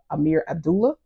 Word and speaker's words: Amir Abdullah: And his audiobook for Eagle Rock was narrated by Amir Abdullah. That's how you pronounce it.